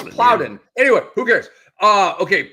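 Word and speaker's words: Daequan Plowden: He's correcting me on the pronunciation of Daycoin Ploudin. This guy, this guy, he doesn't miss Bitb. That's my new nickname for Andre, dude. BITB Daycoin Ploudin Ploudin. No, it's Ploudin.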